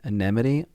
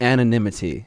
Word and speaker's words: anonymity: Anemity. Anonymousness. How do you say the anonymity? Anonymity.